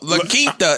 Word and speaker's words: La Quinta: Yo, La Quinta is how you pronounce it.